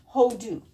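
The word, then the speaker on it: הודו: Ha, o, da, u. Two vowels making the two different vowels that it can make. Hodu.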